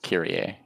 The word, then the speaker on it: Kyrie: I I mean like I would say I would say Yeah, like I think it's pronounced kira technically.